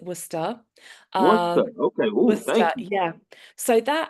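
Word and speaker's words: Worcester: to the University of Worchester if I'm not mistaken um of yeah wer so we pronounced it wora um okay yeah so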